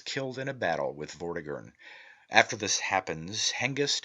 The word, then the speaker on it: Vortigern: of the word mortha the t is silent and M is inflected as is common in the Celtic and is given the sound of V the word is phonetically pronounced vagon and signifies a great